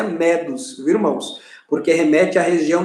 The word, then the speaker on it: medos: e com os irmãos não pronunciarem medos é do do da palavra medo e assombro pagou que